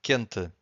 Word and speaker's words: quente: But if you have Q-U-E, the U is silent. Quente.